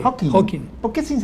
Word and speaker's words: Hawking: Aparte de que existe la posibilidad, según nuestro amigo Hawkins, el físico, ¿Cómo se pronuncia? Hawking. Hawking. Sí, sin S. Hawking.